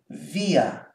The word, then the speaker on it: wie: And this one here, as you know, W is always pronounced like V in English. This one is pronounced via.